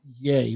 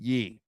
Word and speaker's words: Ye: yes go ahead i i think it's jay like kanye that's i went on google and that's what they're saying i don't know it was a site that was saying how to pronounce it i wonder correct i don't know if it's 100 correct but they're saying it's yay like kanye just take the kind so it's yay so it's yay not ye okay well duke tomlinson